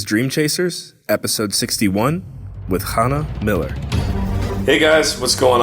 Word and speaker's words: Chana: Chana, first of all, pardon me if I'm doing my best with pronunciation.